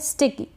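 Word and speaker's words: stick: फिर ये है स्टिक, एस को यहाँ पर आधा स पढ़ रहे हैं, स्टिक, स्टिक का मतलब छड़ी या लाठी।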